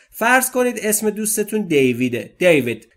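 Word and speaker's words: David: دیود در انگلیسی دیود به این صورت تلفظ میشه. دیود دیود دیود دیوید یا دیود نگفتما دیود دیود ایشه کوتاه بین ا و ای دی از است فرام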